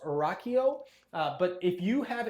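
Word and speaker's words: Rachio: a smart irrigation system I believe it's pronounced Rocko uh but if you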